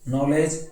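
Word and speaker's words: knowledge: नो के शांत है, नॉलेज के शांत है, और नकल के साइलेंट है।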